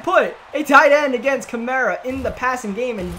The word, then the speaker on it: Kamara: this to see what's the correct pronunciation of Alvin cámaras naming chimera himself said chimera is what he said so I'll go